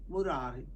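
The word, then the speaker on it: मुरारि: Do you want to say Mura, Ari? Or you can say Murari. Because you want to pronounce those two words together. Mura, Ari, Murari. So it's easy to say Murari rather than saying Mura and Ari.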